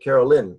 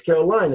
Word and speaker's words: Caroline: I don't know why they all pronounce it Carol Lynn no it's Caroline it's got an e Caroline it's not enough